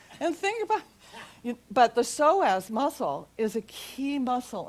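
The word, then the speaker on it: psoas: How many people have heard of the soaz, the P is silent?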